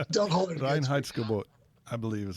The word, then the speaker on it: Reinheitsgebot: There's no, how you pronounce it, Reinholzgebot. I'm not German, so I'll never pronounce that right. So don't hold it against me. Reinheitsgebot.